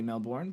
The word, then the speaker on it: Melbourne: the north melbour melbour I'm learning to say it correctly because I've been saying it wrong Mel I Americans we don't say Melbourne but melbour um kangaroos um so